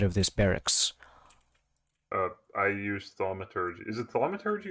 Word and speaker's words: thaumaturgy: I use thaumaturgy. Is it thaumaturgy or thermaturgy? It's thaumaturgy, but if you want